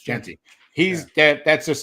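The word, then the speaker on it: Jeanty: Am I saying his name wrong? Is it Is it Genty? Genty. It's Genty.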